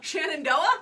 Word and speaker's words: Shenandoah: see that anywhere near Shannon Dahua maybe Oh Shenandoah oh yeah there and even say it right